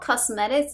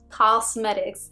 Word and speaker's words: Causemetics: I think that's how you say it, because it's not cosmetics, it's like Causemetics, and I'm pretty sure you have seen them.